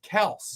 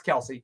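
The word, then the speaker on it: Kelce: dad on, and it is supposed to be pronounced Kels. Yeah, but nobody did it. That eventually the whole family just it's Kelsey.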